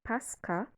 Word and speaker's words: Pascha: Interestingly, it was transliterated from the Greek word pronounced Pascha, which is Strong Concordance's G3957.